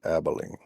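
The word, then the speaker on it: Abilene: That is called Abalene. It's okay. Well, we he might not know how it's pronounced. Maybe they pronounce it Abelene.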